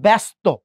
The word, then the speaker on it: ব্যস্ত: এখন দেখেন ব্যস্ত, ব, এই সাথে দেখেন তো জফলা আছে, জফলার পরে দেখেন তো একটা অ আছে না? অ আছে, ওই জন্য জফলার উচ্চারণটা কি করলাম, এ করলাম, বে।